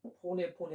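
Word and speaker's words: φωνή: 우리가 보통 포네 하는데 약간 히읗 발음이 섞여 있어. 포네.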